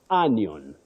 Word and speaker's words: onion: world is right here so this o takes what we call the mid Central sound uh onion all right onion not onion